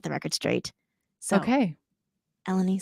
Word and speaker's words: Elenee: hearing a lot of different um pronounce or pronounces of your names and um we're gonna set the record straight so okay elenie say your name elenie oh it's elenie even I'm saying it wrong you're all good